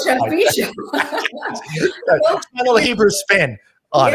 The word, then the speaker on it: Chapi Chapo: It's from French cartoon, which is at least I didn't pronounce it like I would have done in my bar mitzvah, Chapi Chapo or something. No, Chapi Chapo.